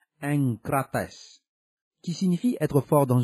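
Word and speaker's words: ἐγκρατής: Le mot enkrateia, SGD 1466, prononcé enkratia, est dérivé de enkrates, SGD 1468, prononcé enkrates, qui signifie être fort dans une chose ou en maîtrise.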